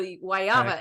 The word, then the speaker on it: guayaba: I have to ask because you're saying wayava is that guava is that what we all say is the rest of us who don't know Spanish say is guava so guayaba is the right pronunciation for that no they also um